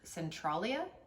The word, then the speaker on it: Centralia: I believe it's pronounced Centralia, Oh.